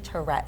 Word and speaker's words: Tourette: about Tourette Syndrome or Tourette's. Tourette. Again, you I can say feel like I'm Tourette. saying it wrong. I know. Tourette We're going to drop the syndrome. S. I'm going to drop the S.